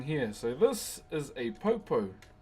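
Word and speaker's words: poupou: So this is a popo. P O U. P O U is how you spell it.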